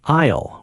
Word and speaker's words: aisle: The P is silent, like aisle with the silent S. Yes, English has many silent letters, but now you know 2 of them. Aisle, silent S.